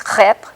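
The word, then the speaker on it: crêpe: with meats or fruits we call it a crepe now in English it's crap it's pronounced slightly differently but we first encountered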